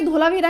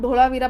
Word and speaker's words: धोलावीरा: ठीक है, वैसे तो ये धोलावीरा है हिंदी में, लेकिन मैं इसको ढोलावीरा पता नहीं क्यों कैसे प्रोनाउंस करती हूँ, तो कंफ्यूज मत हो जाना कि ढोलावीरा क्यों बोल रही हूँ।